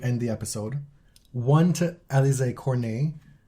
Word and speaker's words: Alizé Cornet: One to Alizé Cornet. Not pronounced Alizé Cornet.